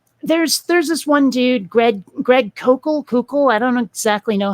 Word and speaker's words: Koukl: Like, there's this one dude, Greg Koukl. I don't exactly know how to pronounce. I think it's Koukl. It's like Koukl with no vowel in between the K and the L.